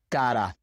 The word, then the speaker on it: cara: So for example, in pero, cara, varios, it's just a very quick sound. Pero, cara, varios. Just pretend that you are pronouncing that quick D sound in English.